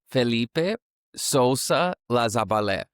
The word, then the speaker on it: Felipe Sousa-Lazaballet: Can you please correct me on the pronunciation of your name? Okay, so my name is Felipe Sousa-Lazaballet.